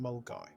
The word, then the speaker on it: Milngavie: Highland Way hike began from milavi pronounced mulgi we were very keen